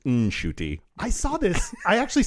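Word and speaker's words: Ncuti: it turns out that shuy gatwa uh I saw an interview that he did with a outlet about uh Doctor Who but in there he said actually my name's pronounced NY I saw this I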